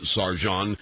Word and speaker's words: Sergeant: It's spelled Sergeant, pronounces Sargent.